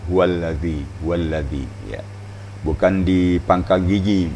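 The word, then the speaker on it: هو الذي: Kembali kepada huwallazi. Zal, makhrajnya di ujung lidah dan ujung gigi atau papan gigi atas. Huwallazi ya.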